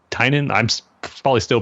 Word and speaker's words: Tynan: you know introduction to the podcast and was pronounced Tynan Tainan I'm probably still pronouncing it wrong but it's